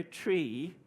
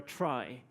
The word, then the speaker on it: trie: to spell word and decide to pronounce it exactly like the thing that it is essentially made of a tree to your ee tree